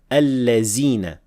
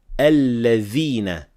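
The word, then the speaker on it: الَّذِينَ: This word here is very commonly mispronounced as al-lazina with zay, and others mispronounce it as dal, al-ladina. We should only say al-ladhina with dhal.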